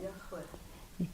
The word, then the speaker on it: Yahweh: Yahweh. Say it again? Yahweh. Thank you. I knew I wouldn't get it right if I tried. So this is a terrible euphemism for the Hebrew verb Yahweh, a future imperfect form of the verb to be.